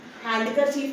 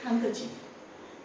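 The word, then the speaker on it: handkerchief: अब इसमें डी हैंडकर चीफ नहीं होता। इट्स हैंकर चीफ। The letter D is silent.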